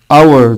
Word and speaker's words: our: مديني كمان الاتش حبايبي في كلمة اور our. طب يعني يا مستر هو ال H لما يجي وراه حرف ال O ما بيتنطقش؟